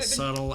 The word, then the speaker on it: subtle: So you're saying the B is subtle in subtle.